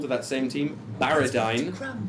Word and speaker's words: Barridyne: Elven child is called to that same team baradine b a r r i d y n